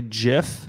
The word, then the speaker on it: GIF: hear spoken ever um i don't even care that it's actually jif it's still gif i i know it's